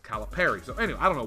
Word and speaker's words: Calipari: I've been saying it wrong the whole time because I always said Calipari. And when he announced his name the other day, or when I first heard him say his name, he says Calipari.